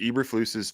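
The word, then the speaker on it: Eberflus: quite yet it was Eber flus's first year that's how you say his name um throw away like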